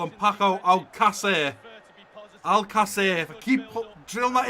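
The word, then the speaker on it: Alcácer: And I really want Paco Alcacer to go here.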